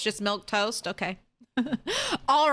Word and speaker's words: Milquetoast: like it's red milk toast oh it's just milk toast okay all right fine you added in a